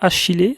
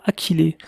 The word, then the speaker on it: Achillée: lachy les millefeuilles donc elle a deux façons de se prononcer on veut dire soit h il est soit à qu'il est normalement le nom est d'origine grecque donc il faudrait prononcé à qu'il est mais comme on prononce le héros de 3h il je préfère étudier h il se trouve que c'est plus facile à prononcer donc au niveau des